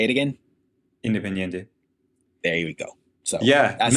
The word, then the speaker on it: Independiente: Independiente. Yeah, to PSV to Liverpool, Yeah. Liverpool to Barcelona, Barcelona to Atletico, Atletico back down to. Yeah. Say it again. Independiente.